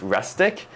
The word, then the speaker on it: Restic: um or rustic uh it might sound like I saying rustic but it's rustic um my my pronunciation